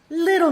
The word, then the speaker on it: little: Little Miss Muffet. So I'm reducing that T to an American flap sound. Little Miss Muffet.